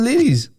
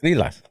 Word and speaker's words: lilas: Your cousins used to call it lilies. They were like, Well, "Oh, I know what they are, and Yeah. it's lilas. I'm telling you. Okay, fine. It's lilas. I've been saying it wrong this whole time.